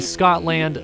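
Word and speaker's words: Scottland: It's actually Scotland, like Scott someone's name and then land, not Scotland the country, which I know only has one T, so calm down.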